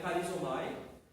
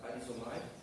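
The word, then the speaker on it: χαρίζομαι: Uma é charizomai, o CH, charizomai, que é relacionada à palavra graça e significa perdoar devido à graça.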